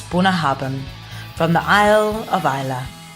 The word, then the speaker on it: Bunnahabhain: And that's how you spell it: Bunnahbain, and it's Bunnahabhain, from the Isle of Isla, west of Scotland, on the Scottish Isles.